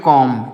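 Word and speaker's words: comb: silent है यह बी जो है यहां पर साइलेंट लिखा गया है तो इसको नहीं पढ़ेंगे सी ओ एम बी तो इसको पढ़ेंगे कॉम क्या पढ़ेंगे कॉम इसको कॉम नहीं पढ़ेंगे कॉम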